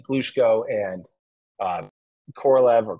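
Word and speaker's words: Korolev: that in that video I over and over say I pronounce uh Sergey krelev's name like that with almost like four syllables at a weird like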